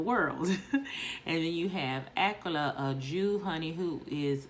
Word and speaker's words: Aquila: This book is about the relationship between Priscilla and Aquila, or Aquila, as most of us probably say it, but in this book it's pronounced Aquila.